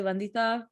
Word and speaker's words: Vandita: pronounce your name right vandida um that's how i tell people to pronounce is actually venditha which is the indian way of saying it but you can call